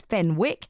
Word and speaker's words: Fenwick: For years, I pronounced Fenwick as Fenwick, as in Candlewick.